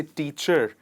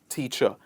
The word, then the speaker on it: teacher: of the word teacher the word ends in the letter r we don't say teacher we say just teacher so that was about